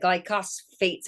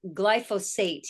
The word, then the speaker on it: glyphosate: popped to my mind was the Roundup that glycos Fates I always say it wrong but uh the you know Glide glyphosate yes and they're um in our streams and